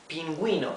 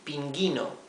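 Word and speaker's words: pingüino: and I okay pinguino and the U is not muted if we omit the the the diis the two dots this would be Pino right we would be not pronouncing the letter U but we do want to pronounce it we want to say pinguino so we add these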